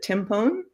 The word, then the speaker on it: Timpone: Is it Timpone? It is. Yes.